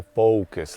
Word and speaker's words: focus: but with your accent, you need to pronounce the O more, because in focus, you're making the O sound like a U. So I said, just go focus like that.